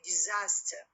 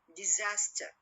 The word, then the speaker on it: disaster: next syllable for example when i say disaster disaster so d is what is weak so i'll stress when will go to what to do disaster disaster when a three syllable